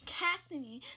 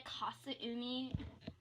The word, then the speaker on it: Kasumi: Don't you mean the Kasumi?